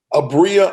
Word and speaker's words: Abria: How do you pronounce her first name? Abria Irons.